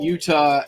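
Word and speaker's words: Eutaw: restaurant was in is utah alabama which is spelled e-u-t-a-w oops yeah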